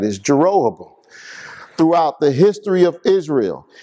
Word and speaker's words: Jeroboam: the sin of jeroboam yeah now i finally pronounced his name right is jeroboam throughout the history of israel he made two